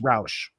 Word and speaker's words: Rausch: Yeah, kind of like ouch, but it's Rausch.